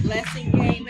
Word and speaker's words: Blasingame: My Facebook is BLASINGAME, Okay. but the book is Blessing under Game.